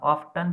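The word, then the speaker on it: often: सी ऑफन told, वो प्राय ऑफन, इसका प्रोनाउंसिएशन आप ऑफ्टन भी कर सकते हैं, ऑफन भी कर सकते हैं। ठीक है। तो नॉर्मल इसका प्रोनाउंसिएशन ऑफन किया जाना चाहिए ताकि ये बेटर रहता है प्रोनाउंसिएशन, उच्चारण में भी।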